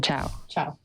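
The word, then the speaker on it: Chou: And then we have Tracy, I always forget how to pronounce Tracy's last name. Chow.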